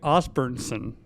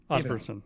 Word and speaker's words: Osburnsen: We also got Osburnsen. Did I pronounce that right? Osburnsen.